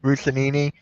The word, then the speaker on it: Russini: I just saw this from I can't pronounce the name. Russinini, whatever. Oh, The Diana Giants are- Rossini.